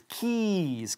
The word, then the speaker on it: keys: No decimos keys. Es keys, con un sonido de la I latina muy larga.